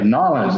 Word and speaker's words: Nollins: Nollins is how you say it.